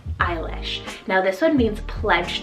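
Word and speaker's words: Eilís: on the girls side we have the name eilish so e-i-l-i-s eilish now this one means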